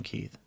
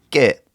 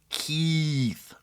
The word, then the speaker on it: Keith: are different and so they would call me get all the time because they couldn't pronounce Keith right so they'd call